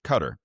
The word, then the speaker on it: Qatar: It's a form of psyops when he's describing places like Qatar, or as many people pronounce it, Qatar.